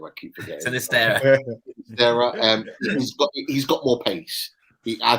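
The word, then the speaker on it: Sinisterra: that plays for Feyenoord, and it's Sanitera. I can't pronounce his name right. Is that Sinistera, the one at Feyenoord? Sinistera, that's the one.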